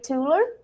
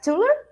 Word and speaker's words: Thuilier: are here with Sammi tuler it's right tuler the the pronunciation Sam it's not easy hi kolina uh it's it's TR it's a French name but uh it's really